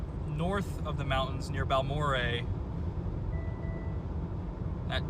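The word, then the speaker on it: Balmorhea: How do you say that town name? Balmorea? Balmore. Okay, Balmore. Balmore. Balmore. All right, it's Balmore.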